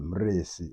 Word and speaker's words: Mrisi: Mrisi is the proper pronunciation. Oh, how do you pronounce it? Mrisi. Mrisi.